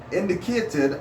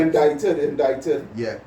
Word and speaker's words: indicted: Elivera del Campo was indicated and tortured for 2 years in order indicted. Indicated. Indicated. I will tell you. Indicted. Yeah. You see is silent.